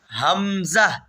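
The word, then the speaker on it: همزة: এটার নাম হল হামজা। হামজা। এই হাখ থেকে উচ্চারণ হচ্ছে হামজাও ওই জায়গা থেকে উচ্চারণ হবে। হামজা হামজা হামজা আবার বলি ওয়াও হামজা।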